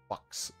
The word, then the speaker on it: faux: extravagant that's right it's it's called faux diamond box diamond actually is how you say that also something i